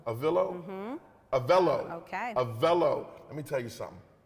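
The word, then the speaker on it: Avelo: this is big big things happening did I pronounce it right avillo a Velo a villo a Velo okay a Velo let me tell you something I'm mad that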